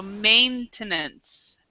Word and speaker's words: maintenance: pronunciation I think so in in English the AI actually is is an a sound so maintenance M maintenance okay thanks oh you're